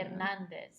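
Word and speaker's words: Hernández: The H is kind of silent. And there's, like, an accent over... Yeah, I think so. Hernandez. Yeah. Oh, so it's like it's over the E.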